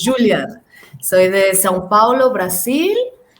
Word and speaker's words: Juliana: Juliana, porque en Brasil la J se pronuncia como J, entonces Juliana.